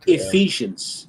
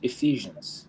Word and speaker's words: Ephesians: Um, I've heard that word is is a difficult word to Ephesians. Ephesians.